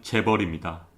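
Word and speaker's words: chaebol: 합니다 하지만 우리나라는 어떨까요 ch bol 발음기호 대로 읽으면 재 버립니다 우리나라에만 있는 독특한 기업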